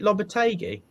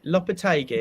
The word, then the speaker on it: Lopetegui: do you stick or twist lopita is it lobotegy lopez who said it right lopez lopetegui oh please um do you stick or twist